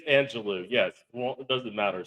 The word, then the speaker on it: Angelou: It's Angelou. Yes. Well, it doesn't matter. She doesn't care if you mispronounce her name, so she's fine.